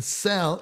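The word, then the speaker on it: Szell: was s by itself in cell it's the s z which uh is a double letter and we don't pronounce the z and it gives the z gives the s this soft cell soft s type sound okay george cell let's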